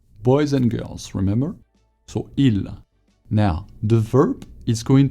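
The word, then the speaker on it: ils: Il. Très bien. Il. We don't pronounce the S either at the end of il.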